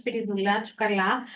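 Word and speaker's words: Spyridoula: you for having us here my name is spirala I am the treasurer of St Spirit Church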